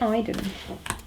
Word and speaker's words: Aiden: of Aiden on it why am I saying it wrong is it Iden Aiden Aiden Pierce that sounds right um and then we